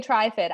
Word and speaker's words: Trifid: opinions in the truth some people say tri-fit i say triffid after like the day of the trifids anywho um back on